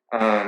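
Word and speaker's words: 鱼: dishes and and the fish carries as meaning uh like uh every year every old year every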